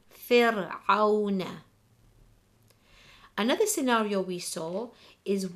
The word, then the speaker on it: فِرْعَوْنَ: If the answer is no, then we will read the Ra SAKINAH light as the example, فِرْعَوْنَ.